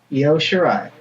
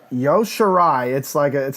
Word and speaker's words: Io Shirai: Io Shirai. Yo Shirai, must be like a silent I or something like that, or it's Io.